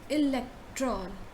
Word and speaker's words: electron: So how do you pronounce this? Electron, elect.